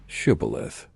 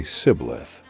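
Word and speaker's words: Shibboleth: they would ask him to say the word Shibith. The Ephraamites had a dialect where they couldn't pronounce the shea sound and would say siblith instead.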